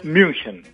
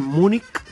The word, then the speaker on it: München: dice correctamente la ciudad correctamente en alemán se diría Bayern münchen mun casi como una O francesa Bayern münchen mun como en España le dicen Munich mun España y en